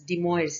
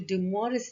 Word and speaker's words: De Moivre: actually dumour's theorems and it's a french name so of course we have to say the same way as the french people say uh and in english